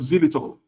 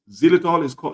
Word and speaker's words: xylitol: Now, the last one is called xylitol. Xylitol is spelled as ZYLITOL.